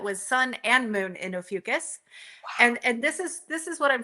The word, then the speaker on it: Ophiuchus: who have I'm going to say it wrong, Ophiuchus? Is that how you say Ophiuchus. it? Uh-huh. Yes. Ophiuchus Yes.